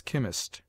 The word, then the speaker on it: chemist: e as chitt cherro CH is sounded like K in words derived from the Greek as chemist scheme collar ACH is commonly sounded